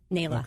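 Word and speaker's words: NAELA: attorneys otherwise known as nla is that how you say it nla no nla Nila okay good that's I love that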